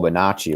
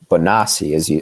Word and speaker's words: Bonacci: And you actually connected him to the Omaha, Nebraska Franklin network as well via Paul Bonacci, right? Or that's an Italian pronunciation, but Bonacci, as they say, right?